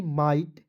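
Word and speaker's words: might: उसी प्रकार दोस्तों य देखेंगे एम आईजी एसटी माइट एच आई जी एसटी य पर टी लगा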